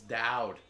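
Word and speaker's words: Dowd: Real simple name, two syllables. Dowed.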